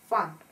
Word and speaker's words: fun: Fun – веселье. Fun. U. Здесь у нас опять закрытый тип слога. U читается как A.